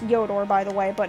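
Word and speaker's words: Yhoator: jungle and you Hooter I know it's actually pronounced yor by the way but it's just so much funner to say yoter hello people be here yes yeah there you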